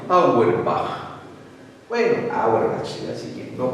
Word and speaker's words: Auerbach: Bueno, Auerbach se escribe, pero se debe pronunciar correctamente Auerbach.